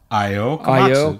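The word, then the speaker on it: Ayao: Well, no, because Japanese it's pronounced phonetically, so Ayo Komatsu.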